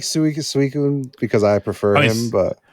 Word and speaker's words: Suicune: but Rapidash just feels right in my head suicune suicune really yeah have ever told you that